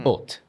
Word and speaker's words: haute: Haute couture. How would you say that? Haute. Right? Let's pronounce haute. Again, haute. Some people may say haute. Is it O, that round sound?